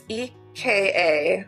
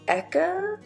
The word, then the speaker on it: Eka: say his name right it's ek a so eka eka and then the last